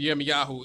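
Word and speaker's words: ירמיהו: So remember that the prophet Jeremiah, his name is pronounced Yirmiyahu in Hebrew, that he was raised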